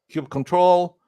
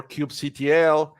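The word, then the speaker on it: kubectl: you're going to be using is Cube cuddle Cube control or cube CTL it depends on the person that is pronouncing this particular command I happen to pronounce it as cube cuddle however it's keep control as well or cube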